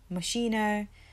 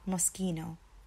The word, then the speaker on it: Moschino: is Moschino Moschino Moschino MOS Ki no Moschino Moschino now growing up I used to hear people say mashina like Moschino there's lots of different ways that I used to hear this brand name being said but it's actually Moschino Moschino so we still